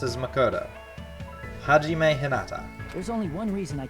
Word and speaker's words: Hajime Hinata: My name is Hajime Hinata. You're not as easy to pronounce as Makoto. Hajime Hinata.